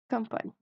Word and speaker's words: campagne: قُل je vais طبعًا هيكون الريف je vais à la campagne G مش بتتنطق يا جماعة.